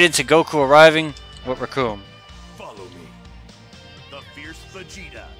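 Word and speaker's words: Recoome: My name is Raccoon. It rhymes with doom, and you're going to be hurting all too soon.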